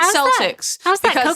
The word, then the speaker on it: Celtics: the it's Boston Celtics the way that's the way that people pronounce it but if you're talking about anything other than the the basketball team it's Celtic she had a I refuse